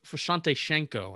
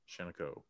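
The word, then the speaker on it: Visanthe Shiancoe: Vasante Shanico, I think. It's correct pronunciation. Shanico.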